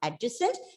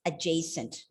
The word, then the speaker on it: adjacent: across this word remember it's not adjacent it's adjacent so some some might ask you what this is a weird pronunciation this is not the way you pronounce it so you can confidently say that as per the british speakers the pronunciation of the word is adjacent you can go and